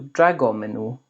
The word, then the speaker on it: Dragomino: butcher the pronunciation, but it doesn't have the Dom thing in it, so it doesn't say Domino, it's Gomino, so Dragomino.